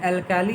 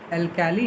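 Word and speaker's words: alkali: एंड एल्काली is aqueous solution of base mainly metal hydroxide, और जो एल्काली है वो एल्कली कह सकते हैं इसको, प्रोनाउंसिएशन एल्कली होगा, एल्कली मेटल्स, जो इसीलिए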